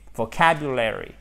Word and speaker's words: vocabulary: l'un et vocabulaire vocabulaire il faut vraiment ouvrir la bouche pour faire celui-ci vous avé l'accent tonique soit deuxième syllabe attention vos cab you l'air et vocabulary sceau du conte reconstitueront